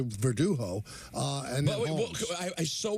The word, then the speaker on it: Verdugo: But why in this case it's spelled straightforward? Yeah, Verdugo. Why is he saying the G is an H?